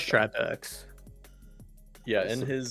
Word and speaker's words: Tripex: pronunciation guide he provided, he wrote TRAJ for the first part of his map, or name Oh, rather, okay. which I interpret as try.